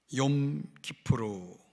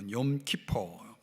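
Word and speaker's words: Yom Kippur: 구약 성경에서 이스라엘 백성들에게 가장 중요한 날로 꼽는다면 이제 바로 오늘 우리가 함께 묵상하는 속죄일, 욤 키푸르 이렇게 부르는데요. 또 욤 키퍼 발음을 여러 가지로 하는데 속죄일입니다.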